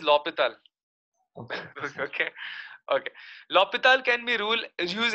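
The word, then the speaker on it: L'Hôpital: Sir, can you use L'Hospital's rule even if there's like mod and all? See, first of all, the pronunciation is L'Hopital.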